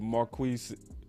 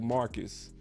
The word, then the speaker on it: Marquez: quick my boss said marquez did i say it right he said pronounce like marcus oh marcus okay i got